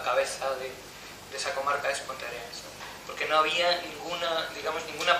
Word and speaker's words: Ponteareas: Yo soy Ángel Rodríguez Gallardo, de Ponteareas. Se pronuncia Ponteareas, que es Puente Arenas en español.